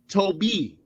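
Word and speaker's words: Tobi: Don't ever think you insulting a black man by calling him Toby, because it's a Nigerian name, goofy. Olua Toby. Toby. Get it, say it, learn it, love it. Toby. Not T-O-B-Y, T-O-B-I. T-O-B-I. Happy?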